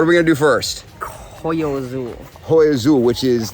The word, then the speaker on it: Hoyo: Justin thinks he can speak Spanish better than me, but he just pronounced an H.